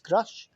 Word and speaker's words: Grusch: We are living post-Grusch, and I think it is pronounced Grusch. I know there's a bit of a debate out there about how do you pronounce the man's name? Well, Ross Coulthard says Grusch, so I will follow Ross's lead on this.